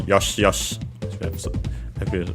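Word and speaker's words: よし: Accented also on the first syllable, Yosh, as we have also heard.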